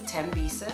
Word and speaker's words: Thembisa: people pronounce it correctly tembisa H is silent M shopping so I've